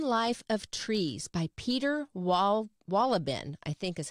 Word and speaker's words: Wohlleben: It's called The Hidden Life of Trees by Peter Wohlleben, I think is how you say his name, Wohlleben.